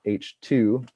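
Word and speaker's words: H II: of the milky way it's h-i-i which is pronounced h2 the ii is for the ionization state of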